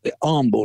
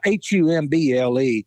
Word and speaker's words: Humble: But in my research, I kept reading about Michael Humble, and it's actually pronounced with the H being silent, Michael or Humble, not it's spelled H-U-M-B-L-E and the H is silent.